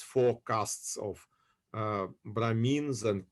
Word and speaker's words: Brahmin: How you pronounce Brahmins? We call it Brahmins or Brahman. Brahmin. They're, Shudra.